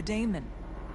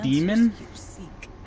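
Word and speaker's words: Daemon: suffering tormented by the Damon she longs to be free and perhaps when Rel they keep calling it a Damon but I'm pretty sure it's pronounced demon I can't believe I'm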